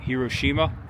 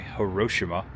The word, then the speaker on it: Hiroshima: Hiroshima, August 6th, 1945. Or I'm sorry, Hiroshima. I think that's the proper pronunciation.